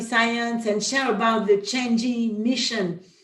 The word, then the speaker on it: Chang'e: So usually it's very difficult to pronounce the name of the Chinese Chang'e mission. It's not Chang'e, but Chang'e.